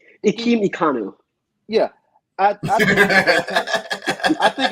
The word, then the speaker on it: Ikem Ekwonu: Ikem Ekwonu.